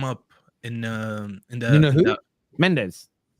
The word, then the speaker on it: Mendes: Mendes. Well, it's really Nuno Mensch, but yeah, Nuno Mendes. Sorry. That's my Portuguese in me.